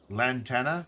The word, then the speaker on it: Lantana: Jackson get this back Lantana is that how you say it Lantana thank you I don't know my